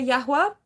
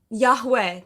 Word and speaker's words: Yahweh: Basically, the pronunciation is Yahwa. Um, now in the translations that they use, they say Joshua. They say uh what else they say? Um, new new age spir new age Christians, they use that word a lot. Um, Yahweh. Yahweh. I'm like, Yahwa. It's a little different, slightly different pronunciation, you know, slightly different,